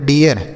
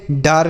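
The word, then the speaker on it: dare: है तो ए है तो इसे पढ़ेंगे डे आर से र ये हो गया डेयर इसे पढ़ेंगे डेयर यह होगा इसका सही उच्चारण ठीक है इसे डर नहीं पढ़ेंगे डारे नहीं पढ़ेंगे इसे डेयर पढ़ना है डेयर मतलब हिम्मत होता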